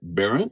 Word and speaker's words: Berndt: Well, it's another edition of In the Driver's Seat, and this time we're with Barren.